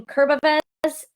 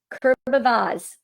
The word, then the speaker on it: Kurbavez: I'm going to bring Christine Iverson from Crow Practice, Lisa Jennings from Wildly Different, Kurbavez from Talon Entertainment AV, Kurbavaz. I said it wrong the first time.